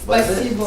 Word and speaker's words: Спасибо: Spasibo.